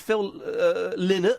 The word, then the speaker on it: Phil Lynott: A wonderful image of Phil Lynott, I believe it's pronounced, with poo on his pants.